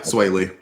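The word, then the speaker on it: Swae Lee: It's Sunflower by Post Malone and is it pronounced Sway Lee? Yeah, Sway Lee.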